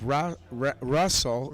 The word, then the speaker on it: Rasel: ryrowski from michigan versus russell although it's spelled r-a-s-e-l it's russell o'connor and ellen moon nice